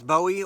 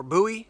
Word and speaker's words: Bowie: looking at this which is the busan wilderness bowie or buoy depending on how you pronounce it if you want to see a